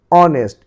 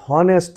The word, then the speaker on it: honest: HONEST, অনেস্ট। এটি হনেস্ট নয়, অনেস্ট। এইচ এর উচ্চারণ সাইলেন্ট থাকবে এখানে, অনেস্ট।